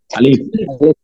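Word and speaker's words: ألف: বাতাস বের করেন বেশি আলিফ আলিফ আলিফ আলিফ আলিফ আলিফ আলিফ আলিফ আলিফ আলিফ আলিফ আলিফ আলিফ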